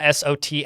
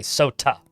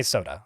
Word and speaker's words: sot: So I did not say soda. I said sot. I mean, that would be very fizzy if that was the case.